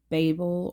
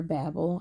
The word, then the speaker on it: Babel: I was in the middle of reading Babel or Babel. I think it's pronounced either way.